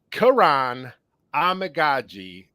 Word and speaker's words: Kiran Amegadjie: good with the with with with names so Karan amaji that's probably the last I'm going to say